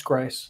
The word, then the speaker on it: Gries: Yeah, it's that strong German. Gries. Yeah. Is it like Gries?